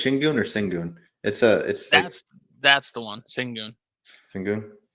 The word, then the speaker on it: Şengün: Thompson's played great, and they got that good young Şengün. That's how it's pronounced. Yeah. I would say Sigurn, but I think it's Şengün or Sengun.